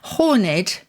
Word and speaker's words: horned: and it seems that in taxonomic terms or in Zoological terms horned is preferred over horned and I looked it